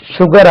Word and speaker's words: sugar: பாருங்க, SUGAR. இது எப்படி சுகர் ஆச்சு? நம்ம கணக்கு பிரகாரம் சுகர் தானே வரணும்.